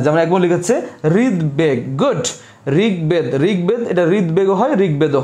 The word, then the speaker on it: ঋগ্বেদ: এবং দয়ের সাথে থাকলে, গ এবং দয়ের সাথে থাকলে যদি সন্ধিবদ্ধ হয় তাহলে উভয়ের উচ্চারণ হবে, অর্থাৎ গ প্লাস ব